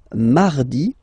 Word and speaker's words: mardi: So you can hear that you don't pronounce it that strongly, this R. Mardi, mardi, okay? You don't need to go too deep like mardi. No, no, no. You don't move your tongue, so it doesn't sound like mardi.